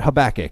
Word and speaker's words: Habakkuk: i mentioned last night i'm not entirely sure how to pronounce that word but let's call it habakkuk because that seems to be well accepted amongst our people the prophet habakkuk wrote